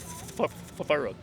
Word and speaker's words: Faruq: Faruq. Say it again. Faruq. How many? Take a chess piece to Rook and Yes. add FA to it.